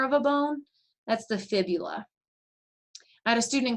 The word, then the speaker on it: fibula: call that tibia and fibia um but notice it's not phibia it's fibula so remember that that's really important when it comes to spelling and pronunciation of those words it's tibia and fibula and then we get